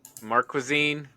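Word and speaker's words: Marquezine: uh uh Bruna mar marazine mar marazine so the K sounds like a k even though it's q i really an actress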